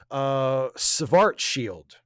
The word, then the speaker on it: Schwarzschild: And Caitlin says, fun fact, it's pronounced Schwarzschild.